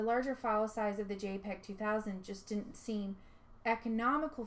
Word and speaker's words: JPEG: Now, the JPEG, which stands for Joint Photographic Experts Group, pronounced JPEG, is a compression format that makes images into much smaller files.